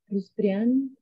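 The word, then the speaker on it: Rustrián: So it's and then Rustrian, like here. Rustrian, Rustrian, and it has an accent on the last A.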